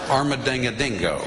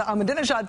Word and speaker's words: Ahmadinejad: You do not negotiate with people like, I have a hard time pronouncing this, Maddow John. Armadingadingo.